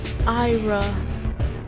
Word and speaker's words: Ira: It's Ira. I've been saying it wrong this whole time. It's Ira. I'm so disappointed in myself.